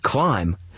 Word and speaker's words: climb: In the word climb, you don't hear the B on the end.